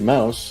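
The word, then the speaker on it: Maus: serious and I'm like the actual pronunciation is actually Mouse it's m a u s Arch beelman said so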